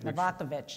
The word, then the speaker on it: Novakovic: name is that right novakovich in the other side of the Atlantic all right so how many people pronounced it correctly the first time well novakovic is the Americanization but but I have